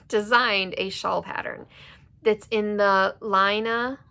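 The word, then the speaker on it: Laine: But, so Fiber Tales, she designed a shawl pattern that's in the Lina, I think is how she pronounces it, or Lane, L-A-I-N-E.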